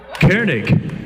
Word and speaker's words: Koenig: means the same thing do we know that Cairn ik k OE n e IG it's a German